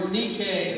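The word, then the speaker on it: νίκη: the victory that is the greek word nike or nikkei as i'm told how it's pronounced that is our victory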